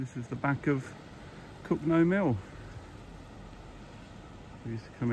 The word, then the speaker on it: Cogenhoe: That's how you spell it, C-O-G-E-N-H-O-E. It's pronounced Cogenhoe around these parts.